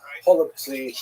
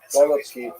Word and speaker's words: Holubtsi: Holubtsi, right? Some people would say with the German or with the Russian pronunciation, golubki, which is cabbage rolls, right?